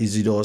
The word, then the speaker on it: Isidore: Then I tell him, "Oh, look, my name is Isidore, and there's sometimes that I catch myself to pronounce my name. I say it's French, kind of Isidore."